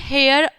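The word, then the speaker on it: heir: Before a noun that begin with a silent H, ठीक, silent H, जैसे कि example में N horse N honest man, ठीक है, एन हेयर एन हॉर, ठीक।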